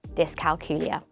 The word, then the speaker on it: dyscalculia: it pronounced in different ways, but the correct pronunciation is dyscalculia.